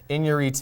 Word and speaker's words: Iñárritu: It's Iñárritu.